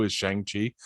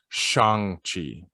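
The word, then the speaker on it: Shang-Chi: stumbled across it because that's exactly how i pronounce it too is shang chi apparently we've been pronouncing it wrong because we're white it's shang chi in the legend okay you know what nobody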